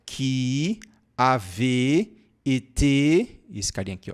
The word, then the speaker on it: été: Lembre-se que ó, o acento agudo, que em português nós falamos é, em francês é o contrário, tá? A pronúncia do acento agudo em francês é e. Por isso que aqui você fala été volé, tá bom?